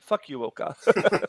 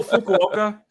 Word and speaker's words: Fukuoka: a a native per if an English speaking person looked at they probably pronounce it fuoka oh Fukuoka yeah don't bring up